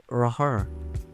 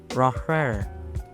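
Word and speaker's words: Rohrer: Bacanya sih Raur. Raur. Dah sebut aja Raur ya.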